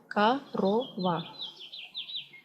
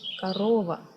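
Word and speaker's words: корова: You see, it's written like korova, but when you pronounce it, you will tell korova. And the stress goes to the second O, korova.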